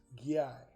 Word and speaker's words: Gear: You know, we're not supposed to pronounce the R on the end of his name. Gear? Yeah, it's not. And it's Gyai.